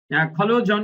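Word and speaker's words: collusion: কুয়েক এন্ড এবং কি খলোজন উচ্চারণ কি খলোজন এর উচ্চারণ হলো খলোজান আচ্ছা আমরা এটা আমি ব্রিটিশ উচ্চারণ করে পেয়েছি খালুজান এটা জান উচ্চারণ হবে এটা জান খালুজান এই যে খালুজান মানে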